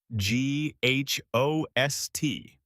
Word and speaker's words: ghost: The word ghost has a silent H. G H O S T. You say ghost.